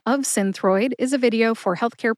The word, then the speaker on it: Synthroid: on to Synthroid next Synthroid has two syllables sin like cinnamon and throid like thyroid without the Y throid put both syllables together and you get Synthroid I tend to emphasize the syllable sin but I couldn't exactly find a reference that indicates the syllable with the emphasis so see if you can hear any emphasis when I say it again Synthroid Synthroid see I think the emphasis is on sin my source for the